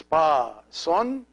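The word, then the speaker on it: ⲡⲁⲥⲟⲛ: This letter is always pronounced an S. It looks like the English C, but it's always pronounced S. So it's pa son.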